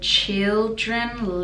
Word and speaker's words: children: Children, the last part, children, again is schwa.